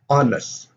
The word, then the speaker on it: honest: So we have hour, 1 hour, an hour, honest, an honest person. You don't have the H sound here.